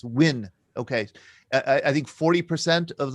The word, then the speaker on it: Nguyen: I always say Nguyen. Nguyen. Yeah. Nguyen. Without the N, Nguyen, right? And there's I think the dialects are different, north and south. In south, it's Nguyen.